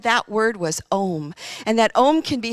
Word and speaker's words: Om: That it's that seed word, and it's actually pronounced A-U-M, and it's done with a complete and full breath.